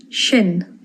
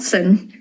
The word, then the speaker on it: sin: Shin shin not sin shin and it means that cha cha not teach.